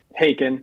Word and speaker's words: Haken: Like I was into like some like Prague rock and stuff like I liked Hackin or Haken, however you pronounce it. Haken.